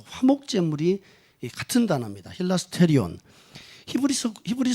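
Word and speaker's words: ἱλαστήριον: 소라고 한 단어가 굉장히 헬라어로 성경에 기록돼 쓰니까 발음하는 힐 아스테리온 이라고 하는 게 바른 발음을 합니다 그런데 이 힐 에스테르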